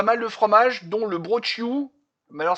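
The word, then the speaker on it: brocciu: Mais alors, ce qui est marrant avec les Corses, c'est qu'il faut jamais prononcer la dernière lettre. C'est le broch. Non, c'est brochiou. Il y a deux C-I-U. Ça fait brochiou.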